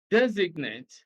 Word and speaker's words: designate: C, designate, stress is on the first syllable.